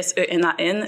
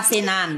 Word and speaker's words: Senan: Petite parenthèse, mon nom s'écrit SENAN, le N est muet. Donc c'est Sena. Parfait. Pas Sénan.